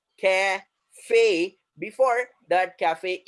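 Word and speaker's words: café: The sound will be at the end A. A, it is going to stretch the sound. A, uska sound वहां पर खिंच जाएगा. A, cafe.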